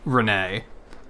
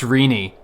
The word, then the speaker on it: Renee: had a co-worker named Renee and I think she was training her and she called her Renee and she's like no no it's pronounced Rini and she was like